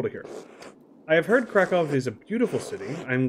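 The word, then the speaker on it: Kraków: court by the way I'm not 100 sure that in Polish double user pronounced as vs but I I think they are I think it's krakov Warsaw uh cat advice instead of Krakow Warsaw cata Weiss stuff like that but I might be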